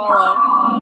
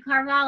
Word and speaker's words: Carvalho: Carvalho. Thank you, Carvalho.